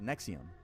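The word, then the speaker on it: NXIVM: Is collateral Nexium. Let me introduce you to NXVM pronounced Nexium.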